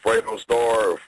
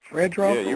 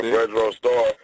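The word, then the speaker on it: Fredro Starr: I say his name what is it Fredo star what's the name Fredro right yeah Fredro star his new song 160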